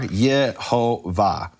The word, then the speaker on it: Yehovah: 19 rabbis who explicitly tell us the vowels are Yehovah.